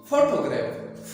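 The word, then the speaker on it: photograph: तो इसका मतलब ये है कि इसमें जो पहला सिलेबल है वो क्या है, वो स्ट्रेस्ड है, इस पर आप थोड़ा सा जोर देंगे।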